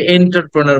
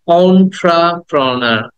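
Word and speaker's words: entrepreneur: অন্ট্রাপ্রোনার অন্ট্রা অন্ট্রাপ্রোনার অন্ট্রা প্রথমে এ বলবো না ইও বলবো না অন্ট্রা অন্ট্রাপ্রোনার অন্ট্রাপ্রোনা দেন দ্যা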